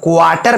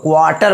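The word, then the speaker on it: quarter: उसी प्रकार से आपका यहाँ पर है, ठीक है, क्वार्टर पढ़ेंगे, आर के बाद कॉन्सोनेंट है, सला टी आर का उच्चारण नहीं होगा, क्वार्टर बोलेंगे ना, ठीक है।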